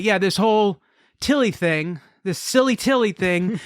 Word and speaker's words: Tilly: Is it like pronounced named Tilly? Tile? No, it's just Tilly.